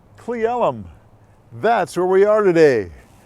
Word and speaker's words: Cle Elum: That is pronounced Cle Elum.